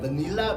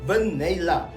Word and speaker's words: Vainilla: It's something like vanilla, but it's pronounced as Vainilla.